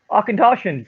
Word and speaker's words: Auchentoshan: give us the pronunciation arkentoshan say it like sean connery i can toss it